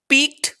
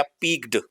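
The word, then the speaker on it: peeked: जैसे अभी एक वर्ड आ गया पिग्ड। अब इसको पिग्ड पढ़ेंगे बहुत सारे लोग। लेकिन राइट प्रोनंसिएशन इसका होगा पिक्ड।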